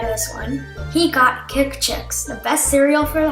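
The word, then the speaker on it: Kikchix: He got Kick Chicks, the best cereal for the holidays. Kick Chicks. Okay, that's spelled K-I-K-C-H-I-X.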